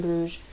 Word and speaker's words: Bruges: Many ways to say the name of that city, but I'm going to stick with Bruges for now. It's the French pronunciation, I believe.